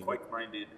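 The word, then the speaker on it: Kveik Minded: Quake-minded. Quake-minded. There it is. Quake-minded. Yeah, it's the V, but it's pronounced with the W.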